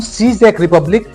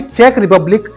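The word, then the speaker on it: Czech Republic: अंदर एक देश है जिसको हम सीज रिपब्लिक या फिर चेक रिपब्लिक अ बोलते हैं इसके प्रोनाउंस एशन में जो है कंफ्यूजन हमें हमेशा रहता है तो चेक रिपब्लिक के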